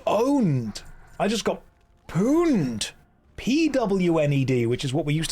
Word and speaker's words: pwned: Like pony. It's owned, but with a P.